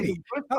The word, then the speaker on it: Mesiti: It's Mesiti, isn't it? Mesiti, that you said it It's perfectly. Mesiti. Okay, that's right. It's Pat Mesiti. Right. Okay, so Yeah. Pat Mesiti talks about how to do this and how